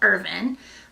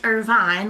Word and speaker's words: Irvine: a town very small town Eastern Kentucky called urban I RV I and II but not pronounced Irvine like ever other city of that spelling but